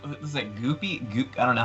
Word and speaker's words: GUPI: Well, there's like Goopy. I don't know how you say it. I say Guppy. Guppy.